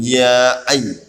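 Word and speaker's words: يا أيها: Iya, ini dibaca panjang ya ayyuh. Karena hukum bacanya mad wajib mutasil.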